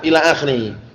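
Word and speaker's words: إلى آخره: Nah, ila akhiri. Ini bacanya bukan al-akh itu ya. Ila akhiri ini.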